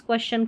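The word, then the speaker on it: question: Students क्वेश्चन क्वेश्चन करते हैं। नहीं क्वेश्चन क्वेश्चन यह है इसका सही उच्चारण।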